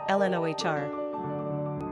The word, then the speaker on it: Lenore: gender girl origin English number of syllables two ranking popularity not applicable pronunciation Ln Ohr simple meaning the other